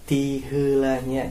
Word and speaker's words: tiheulanya: Langsung saja ya, ungkapan praktis pertama yaitu adalah ungkapan tiheulanya. Tiheulanya, cara bacanya tiheulanya.